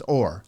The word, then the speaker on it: Or: name SV and it's or yeah is that how it's pronounced it's like Orlando without the Lando okay so it's or all right and then